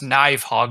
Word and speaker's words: Nidhogg: Nidhogg? It's not Nidhogg. Wow! You remember Nidhogg? Yes. Well, technically it should be pronounced Knivehog if you're basically to your Norse language, but yes, okay, I do kind of remember.